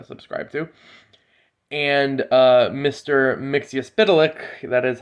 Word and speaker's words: Mxyzptlk: theories you uh subscribe to and uh mr mixiuspitelik that is how you pronounce it by the way uh from dc